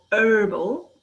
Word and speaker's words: herbal: which here is called herbal when you don't pronounce the h so that's some differences